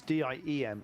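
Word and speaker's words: Diệm: It's DIEM, it's ZM. It's pronounced ZM. ZM, gotcha.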